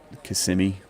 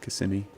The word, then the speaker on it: Kissimmee: It's actually Kissimmee, I think is how it's pronounced. Kissimmee.